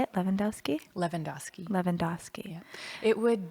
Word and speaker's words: Levandoski: Levandoski?